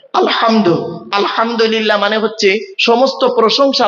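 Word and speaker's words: الحمد: আলহামদু, এই গলার ভেতর থেকে এটা উচ্চারণ করবেন, আলহামদু, আলহামদু নয়, আলহামদু।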